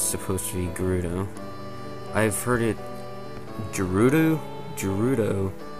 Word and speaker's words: Gerudo: which obviously shows that it's supposed to be a hard g sound like good as in gerudo instead of a j not gerudo gerudo whatever